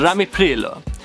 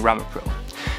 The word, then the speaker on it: ramipril: of my favorite mispronunciations first I've got Lanzarote instead of longshot resolve and bloody pain instead of amlodipine and Lambie peeler which I call it the Italian version of saying ramipril which actually got me thinking